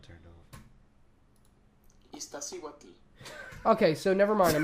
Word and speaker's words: Iztaccíhuatl: Eckenstein joined him later that year, and together they climbed several mountains, including the Iztacha. Okay, hold on. I'm gonna need to press the Wikipedia page so I can pronounce this right.